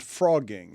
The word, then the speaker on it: phrogging: And I'm curious how many of you know what I'm about to say is the word is called frogging and it's spelled ph.